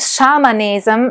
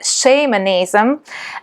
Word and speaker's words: shamanism: that scholars pronounce it shamanism rather than shamanism, because the term shamanism comes from is the Tungusi term shaman. So shamanism sounds somewhat closer to the origin where the term comes from.